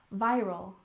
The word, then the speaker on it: viral: and next we have viral stress on the first syllable viral viral this is when something